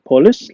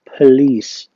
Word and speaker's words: police: The second word is a famous one ودي بننطقها لا مش كده خالص مش police لا نقولها police police okay so it is police again police next word is radar radar radar okay وهو الرادار أو نظام الرادار.